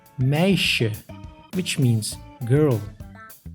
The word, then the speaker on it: meisje: S plus J makes sh, like in meisje, which means girl.